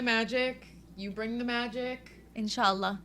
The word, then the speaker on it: Inshallah: Inshallah. That's what we say in Arabic. Inshallah. How do you say it? Inshallah.